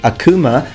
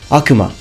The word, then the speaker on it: Akuma: I hear a lot of people pronouncing it Akuma. The real pronunciation in Japan is Akuma.